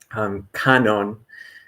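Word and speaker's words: Kannon: And so, kanon in Japanese, some English speakers are more familiar with the Chinese pronunciation guanyin, um, but this is considered the embodiment of compassion.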